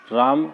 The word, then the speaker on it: रामः: जैसे रामः, राम, माँ के बाद विसर्ग लगा हुआ है तो हा का उच्चारण रामः होता है।